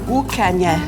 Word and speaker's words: Ucanha: So Inish, how do I pronounce the name of this town? Ucanha. Ucanha.